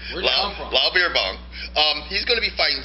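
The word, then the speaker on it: Beerbohm: Jimmy, can you pronounce this guy's name? Beer Bomb. No, it's Beer Bomb. Lyle Beerbong.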